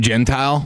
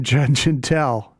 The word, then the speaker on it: Gentile: had a guy Jim Gentile. Jim Gentel. I think it's spelled Gentile. Is that how it's spelled? They hit two in one inning.